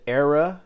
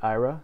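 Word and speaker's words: AIRA: gonna go to the era and DJ tab some people pronounce it IRA there's no right or wrong way to say it we're gonna hit the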